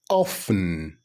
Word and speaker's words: often: that happens many times the correct pronunciation is often often often I often visit my